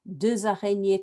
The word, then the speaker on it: deux araignées: example, as one must, then it's not deux, it's deux. Deux araignées, trois araignées, 6 araignées, 10 araignées, 8 araignées, because those silent letters are getting sounded because a vowel is following.